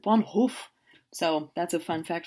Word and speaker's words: van Gogh: It's not Vincent van Gogh, it's Vincent van Gogh."